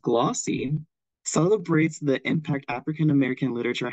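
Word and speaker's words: GLAWC: L African-American writers conference g l a WC pronounced glossy celebrates the impact African-American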